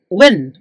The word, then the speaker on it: Nguyen: When? Nguyen or when ang pronunciation yan eh.